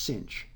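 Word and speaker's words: sinh: corresponding hyperbolic sine function written SI n HX pronounced cinch the cost of x is e to the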